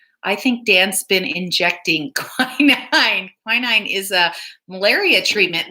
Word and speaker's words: quinine: Did you know that tonic was used as a medicine, and it has quinine?